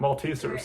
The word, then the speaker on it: Maltesers: Maltesers, that's how you pronounce it.